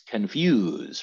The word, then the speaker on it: confused: but even here again the little apostrophe is at the end of the second syllable and that is it's confused right not confused confused okay so i think